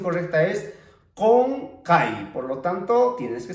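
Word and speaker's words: qunqay: Bueno, si tú escribirías esta palabra, por ejemplo, con la K, pues sonaría como kunkai, kunkai, kunkai, pero la pronunciación correcta es konkai, por lo tanto, tienes que escribir con la Q.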